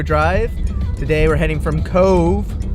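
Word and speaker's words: Cobh: today we're heading from Cove which is definitely how you pronounce it over to Waterford then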